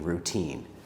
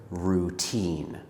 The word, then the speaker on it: routine: to pronounce the word routine. Some students let their tongue move a lot when they say So instead of saying routine, they say routine. In English, especially American English like mine, we don't have the r sound.